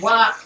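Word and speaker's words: は: Ha particle, pronounced as wa contrast.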